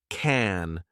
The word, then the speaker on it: can: Americans say can with a soft a sound like cat or man. But I was using can like the name.